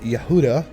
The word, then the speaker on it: Judah: one of these grandsons Judah pronounced in Hebrew as Yehuda son of Jacob and